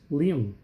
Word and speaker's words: Luong: tail, when it's taken, the Mandarin sign for tail is pronounced Luong.